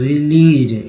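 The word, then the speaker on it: released: यहाँ AC means ज का उच्चारण हो जा रहा है, एक्चुअली ईडी जो लगा या एस को ज के रूप में बोलते हैं, रिलीज्ड, एस को ज के रूप में उच्चारित किया जा रहा है।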